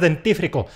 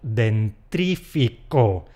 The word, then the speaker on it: dentífrico: Seguro que más de uno y más de dos han dicho . ¡Pues no! Esta palabra viene de “diente” y “fricción, frotar”. El dentífrico es una pasta que sirve para frotar los dientes. El diente no tiene erre y a “frotar” no se la podemos quitar.